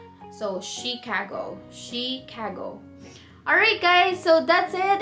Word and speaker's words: Chicago: So that's actually pronounced as Chicago, not Chicago. So Chicago.